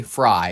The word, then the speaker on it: Frey: Fry, excuse me. His last name is spelled F R E Y. So, it bothers me. Frey. It's Fry.